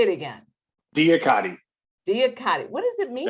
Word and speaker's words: DIAKADI: In 2004, he founded, now I'm never going to pronounce this correctly. DIAKADI. Say it again. DIAKADI.